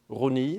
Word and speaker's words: Rosny: Château de Rosny, Rosny, that would be just like the French to have an S that's not pronounced in there.